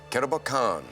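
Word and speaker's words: Kerobokan: Not sure on the pronunciation, Andrew, but is it Karabokan? George, it is Karabokan.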